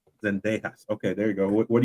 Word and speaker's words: Zendejas: What do you think about Downs and I don't know how to pronounce that last name. Zendejas.